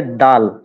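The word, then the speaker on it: دال: তো এটা হচ্ছে দাল। এই যে হরফটা দাল। হ্যাঁ, এটা স্বাভাবিক উচ্চারণ দাল, দাল।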